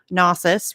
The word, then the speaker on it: Gnosis: to another member of gnosis right yeah i don't know why i'm i'm trusting you you never the g is silent it's like gnome okay gotcha no i